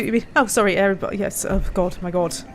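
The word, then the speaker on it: Eriboll: Moss says there's a place called Loch Erebol, pronounced as Hairy Ball. Is Loch a start with an H then in Gaelic? Oh no, I see what you mean. Oh sorry, Erebol.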